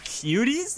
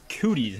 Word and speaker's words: cooties: Cuties? You mean cooties? Is that the same thing? No. It's pronounced cooties, not cuties.